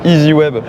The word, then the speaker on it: EZ Web: ça qu'on appelle ça ez web ez web exactement et en anglais ça se prononce easy web d'accord donc et easy